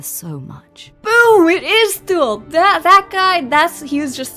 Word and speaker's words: Thul: It is Thul!